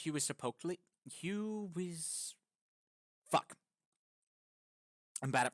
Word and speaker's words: Huitzilopochtli: So it's Huitzilopochtli. Fuck. I'm bad at pronunciation. Huitzilopochtli. Huitzilopochtli.